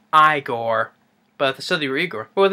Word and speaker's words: Igor: Frederick I see here USP Igor nice pronounced I gore but the Saudi Reger